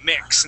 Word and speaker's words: mix: mix yeah yeah uh give me a short ey sound with h with that word mix mix there you go mix instead of Meek we say mix good